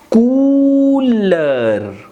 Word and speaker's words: couleur: So hence we will pronounce it Coo. COU is Coo, L is L, and EU is A, and R is R. So cooler, cooler, which means color in English.